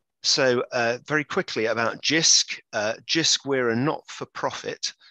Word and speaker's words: Jisc: the eyes of jisc jisc as we pronounce that as jisc now others may have